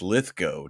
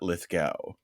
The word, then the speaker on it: Lithgow: one of them so it's litho not Lithgow oh I see lith go go go yes so liow like cow yeah and then Steve